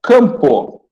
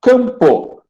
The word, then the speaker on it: campo: Então, AM, se estiver na mesma sílaba, e você tiver o som nasalizado, campo, aí é dígrafo. Olha como é que são os pronomes. Campo, K, o A com tio, P e O.